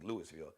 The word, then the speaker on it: Louisville: city of Lou Louisville I can say louville spelled like Louisville but they'll tell you it's Louisville Louisville Kentucky I think